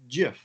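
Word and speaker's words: GIF: the pronunciation is what now? It's Jif.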